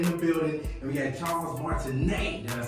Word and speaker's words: Charles Martinet: Veronica Taylor in the building and we had Charles martinet did I say it right Charles yes you